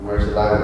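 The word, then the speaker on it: Murciélago: But at that time, I think only Huracan and, how do you pronounce it? Which one? The one starts with M. The Murcielago? Murcielago.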